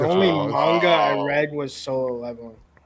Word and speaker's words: manga: Yeah, Magna. Mag Manga and then gaming and then rant against Eric. It's literally not on my screen. Do not ever pronounce it that way again.